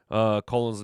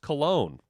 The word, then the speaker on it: Colon: Colon's name is Cologne. Gotcha. I've been saying it Colon, so it's pronounced Cologne.